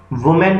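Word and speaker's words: women: वुमेन का plural M की जगह MEN, तो क्या बन जाएगा? विमेन। मैन की जो प्रोनाउंसिएशन होती है वो मैन होती है, MEN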